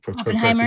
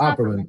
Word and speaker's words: Opperman: saying it wrong. It's Opperman. Opperman.